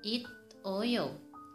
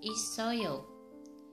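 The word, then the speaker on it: 있어요: Harusnya dibaca it oyo, tapi salah. Yang betul pengucapannya dibaca isoyo.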